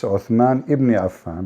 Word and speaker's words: Uthman ibn Affan: Al-Musaf Al-Sharif, attribute to Uthman bin Affan, the copy of Al-Masar Al-Husseini in Cairo. So Yeah. Cairo You know, she said the name wrong. It's Uthman ibn Affan, but it's okay.